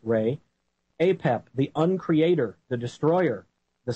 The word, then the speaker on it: Ra: Egyptian enemy of Ry some pronounce it ra but it is pronounced Ray apep thecreator the Destroyer